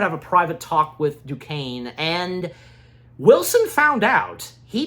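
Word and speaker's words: Duquesne: Fisk and, you know, the people that Wilson is interacting with, including Jack, uh, Dukane. Um, yeah, and that's how his last name is pronounced cuz in my part two review, I was having trouble.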